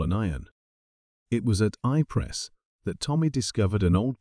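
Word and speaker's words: Ypres: to reach calile and once at ipress which the disrespectful Tommy insisted upon pronouncing wipers the attempts to reach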